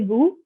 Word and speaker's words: vous: And here you can see that I'm pronouncing the S here in vous because the word after vous is appelé, which starts with the A, which is a vowel. So I say comment vous appelez-vous? So instead of sa, it is like a Z sound.